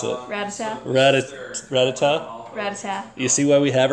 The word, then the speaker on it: Rattata: next Bulbasaur, what's, the next Sentret is basically Rattata, right? So I know I'm not pronouncing it right, am I? Nope. How do you pronounce it? Ratata.